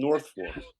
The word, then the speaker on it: Norfolk: It's spelled Norfolk, but they call it Northfor.